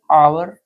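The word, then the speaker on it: hour: कुछ शब्द है जैसे आवर ऑनेस्ट एयर ठीक बिगिन विद अब देखिए इनको हमने जब पढ़ा है तो यहां पर एच जो है वो इस प्रोनंसिएशन करते समय एच साइलेंट है ठीक है ओ से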